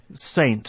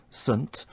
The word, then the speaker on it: Saint: thing first of all instead of saying Saint with a strong pronunciation we're using the weak form sun and then we have